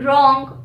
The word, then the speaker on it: wrong: Now, W is usually not pronounced when it comes after an R at the beginning of the word. For example, wrong, right, rap, wrath.